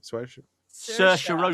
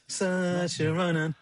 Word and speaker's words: Saoirse: Saoirse Ronan.